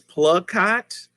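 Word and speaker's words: Plakat: plug like i like oh pla rhymes with blood clot oh plug cot that's p-l-a-k-a-t is plug-hot tien don't you jump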